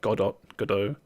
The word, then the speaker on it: Godot: I think am I pronouncing that right? It's Godot.